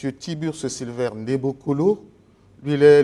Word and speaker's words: Tiburce: Tiburce Silver Nebokolo. Lui, il est le guide spirituel de l'ordre des Aïniens. J'ai bien prononcé, M. Tiburce? Oui, oui, merci.